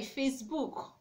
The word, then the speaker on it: Facebook: You don't say Facebook. Okay, so you have to stress the word on the first syllable by saying Facebook.